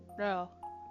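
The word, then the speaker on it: ろ: So this one is ro, okay? Like, and they say ro is for rodent. Cute and totally not rude anymore. Yeah, that's good. You would say it like rowing a boat, or owing money.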